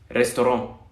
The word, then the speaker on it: restaurant: Esta o R se pronuncia como una R, trois, ¿no? Restaurant. Se puede pronunciar como una R y no hay problema.